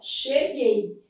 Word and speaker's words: cheguei: Ó, fazendo a transcrição, cheguei. Esse U, como ele não é pronunciado, ele forma dígrafo.